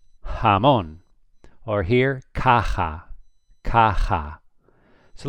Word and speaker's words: jamón: J in Spain is always pronounced like the H in English.